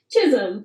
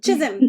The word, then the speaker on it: Chisholm: how do you say your name Chisholm Chisholm okay so uh that's them hopes books hope